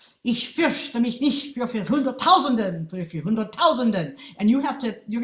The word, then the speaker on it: hunderttausenden: And the accented syllable is not in the place we expect, and then an unaccented syllable is in a place we don't expect.